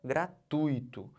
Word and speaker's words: gratuito: gratuito O certo é gratuito eu tô fazendo o que eu tô botando toda essa sílaba aqui ó tui como sílaba tônica eu não posso separar